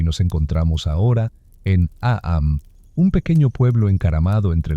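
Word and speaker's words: Eyam: Es verano de 1665 y nos encontramos ahora en Aam, un pequeño pueblo encaramado entre las pintorescas colinas de Darbisha, Inglaterra. Sí, a que se pronuncia como M, sin complicaciones.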